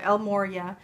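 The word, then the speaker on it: El Morya: you get l l Moria and I always pronounce it wrong but it is Moria El Moria um clear and shield your energy and I'll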